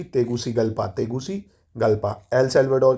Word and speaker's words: Tegucigalpa: इसकी राजधानी क्या है, तेगुसिगल्पा, तेगुसिगल्पा। क्या है भाई, स्पेलिंग लिख देता हूँ, TEGUCIGALPA, तेगुसिगल्पा, तेगुसिगल्पा।